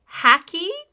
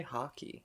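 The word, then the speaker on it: Hakki: also standard for you haki or haki it's h a double k i it's turkish oh so i go like haki haki i'd say hockey yeah haki it also had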